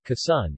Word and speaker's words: Quezon: khaisan tagalog pronunciation kassan is a province of the philippines in the